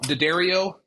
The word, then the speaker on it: D'Addario: It is partnered with D'Addario.